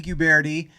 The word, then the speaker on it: Guberti: one we have a very special guest guberti is did i pronounce it right it did oh wow wow